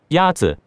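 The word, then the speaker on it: 鸭子: Yazi is pronounced with a first tone. In Mandarin, there are four tones, which are essential to distinguish the meaning of words. The first tone is a high-level tone.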